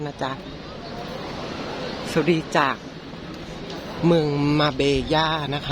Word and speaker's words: Marbella: จ๊ะ สวัสดี จ๊ะ เมือง มาเบย่า นะ คะ สะกด เป็น ภาษา อังกฤษ จะ ออก เสียง ว่า มา เบลล่า นะ คะ แต่ เรา